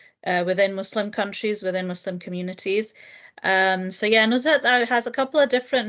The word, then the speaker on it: Nuzhat: In Arabic, I think it's specifically Nuzha, but it's also pronounced as Nuzhat.